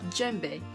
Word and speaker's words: djembe: and this is called a djembe spelled with addy for the D silent and you know as